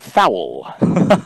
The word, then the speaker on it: foul: drove me crazy when he said foul it was two syllables i said dan it's foul not foul it's a foul and a